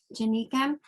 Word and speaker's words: Janika: miss um how do you say your first name janika janika um janika's paper is